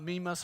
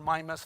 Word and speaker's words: Mimas: But and here's one of Saturn's moon called Mimas or Mimas, depends on how you pronounce it.